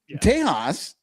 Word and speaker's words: Tejas: Just because they say Tejas doesn't mean it has a J in it, you fucking idiots.